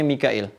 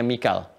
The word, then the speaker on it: Mikail: Mikail, ini di riwayatnya Warash dibacanya Mikail, ya. Di Hafs dibacanya Mikal, ya.